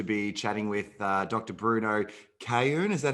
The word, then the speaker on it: Cayoun: Bruno Cayoun.